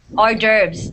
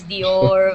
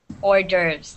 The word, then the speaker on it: hors d'oeuvres: d'oeuvres gerbs perfect yeah a lot of people don't know how to pronounce it they go like the orb or whatever it's not pronounced like that it's pronounced hors d'oeuvres here i'll write it phonetically okay okay hors d'oeuvres that's how you say it but that's how